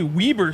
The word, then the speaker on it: Weber: actually who was at uh Michigan it is pronounced Weber State home of Damen Lillard really yes damn